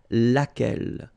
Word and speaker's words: laquelle: So basically same rule, QU, U is not pronounced here. And then you've got this double L-E. Well, phonetically here, it is the same as what we have here. So, laquelle.